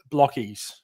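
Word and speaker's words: Blokees: It is Blockies. Hence we say Blockies all the time." And people are like, "Oh, really? Like, because you spell it like Blokies? It's a bit weird."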